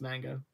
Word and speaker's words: manga: Manga is pronounced manga. I mean, that's great. It's manga. The A makes the other A long.